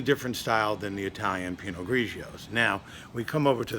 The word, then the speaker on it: Pinot Grigio: How are they pronounced in Italian? Pinot Grigio.